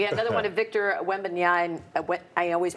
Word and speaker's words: Wembanyama: And we had another one of Victor Wembanyama. I always pronounce it wrong.